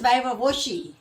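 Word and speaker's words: viva voce: It's pronounced as वाइवा वोची.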